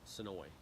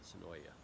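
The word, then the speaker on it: Senoia: in that little town, Sonoy. Sonoy. It's got an A on it, but they pronounce it Sonoy, not Sonoya.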